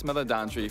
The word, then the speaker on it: Meledandri: We've been working on this movie together with Chris Meledandri from Illumination for a long time. That's how you say it. From brainstorming and all the Meledandri.